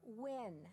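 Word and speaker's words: Nguyen: Maya Wynn. Can you spell that, please?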